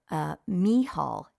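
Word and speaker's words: Mícheál: another one would be Michael from the Bible me Hall is the Irish for that right knee Hall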